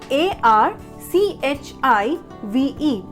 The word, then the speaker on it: archive: the next word is archive what's the spelling a r c h i v e so how many of us pronunciations are chief where the problem lies the